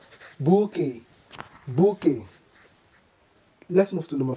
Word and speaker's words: bouquet: Number 4, the word here is pronounced not as bukwit, bukwet, or bukwit. The word is accurately pronounced as bouquet. Bouquet. Bouquet, a bunch or collection of cut flowers, is of a French origin. In French, the QU is pronounced together as k, k, and the T is